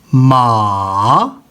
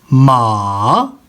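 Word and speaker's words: 骂: इसमें देखिएगा कि मैं कैसे प्रोनाउंस कर रहा हूँ, माँ, ये देखें, माँ, माँ। अब इसका क्या मतलब है? हॉर्स। चौथे कॉलम की तरफ आइएगा। अब देखें, इसको मैंने कैसे प्रोनाउंस करना है? माँ, माँ, माँ।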